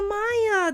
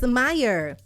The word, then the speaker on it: Mayer: to goodness we thought it was is Oscar Maya that's what everybody says Maya that's why everybody says Oscar my I wish I was going on it's Meyer otherwise we would pronouncing it like mayor like